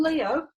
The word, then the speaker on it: Leo: This is the second syllable, O. Leo is a perfectly behaved combination of 2 syllables. The E says its name in the open syllable. The O says its name in the open syllable. Leo. So that's not these 2 letters combined to make one sound. 2 distinct sounds, E, O, like that.